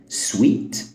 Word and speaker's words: sweet: وهشرح كمان معانيهم الاساسيه اول كلمه هي سويت والتانيه سويت برضو والثالثه ست سوت سوت تعال نبتدي باول واحده